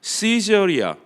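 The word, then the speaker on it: Caesarea: 시저리아, 가이사리아 마리티마, 이 라틴식 발음이고요. 영어로 하면 시저리아입니다.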